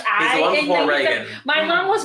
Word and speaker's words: Reagan: it's pronounced Reagan.